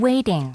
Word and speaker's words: waiting: Waiting. waiting. T가 어떻게 리로 나서 Waiting. waiting이 됐습니다. 영국식일 때는 어떨까요? Waiting. waiting. Waiting. waiting. 맞죠? T 발음이 났습니다.